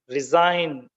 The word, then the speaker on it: resign: with silent Z sign resign design mign Sovereign in all these words G is unpronounced that is why it